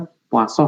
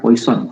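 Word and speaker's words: Poisson: adalah distribusi pulang puasa Ini bacanya puaso Butet bukan Poison walaupun itu racun dari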